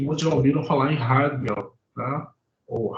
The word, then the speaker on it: Heidegger: Acho que muitos já ouviram falar em Heidegger, né? Ou Heidegger, como alguns falam, que é a pronúncia correta, alemã.